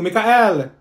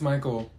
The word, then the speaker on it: Michael: she's eating rice you mean Beatrice thank you Mikhail ma'am it's Michael okay what about slow is that you no